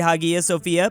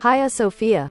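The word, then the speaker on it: Hagia Sophia: Hippodrome and then maybe pray in the great Haga Sophia. Hia Sophia. I did not know that's how you're supposed to pronounce it.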